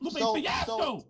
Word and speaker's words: Lupe Fiasco: No, wait, you ain't saying it right. It's Lupe Fiasco.